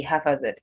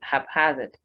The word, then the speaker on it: haphazard: succeed right haphazard haphazard people tend to think you might say half as it but no this word is stressed on the second syllable and the p has its own sound about the h the second h has its own sound as well so you say haphazard haphazard mistake mistake whether